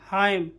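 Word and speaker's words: hymn: जैसे autumn, column, dam और हाइम, यहाँ पे एन क्या है, साइलेंट, एन क्या है, साइलेंट, ठीक है।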